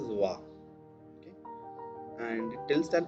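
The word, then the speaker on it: は: It connects the subject and rest of the part of the sentence, and it's written as ha, but it's pronounced as va.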